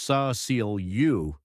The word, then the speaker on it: Cecilia: One name surfaces repeatedly, Cecilia Pierce, pronounced Sa-Ceal-U, a teenage intern in the media program, close to Pamela and privy to secrets.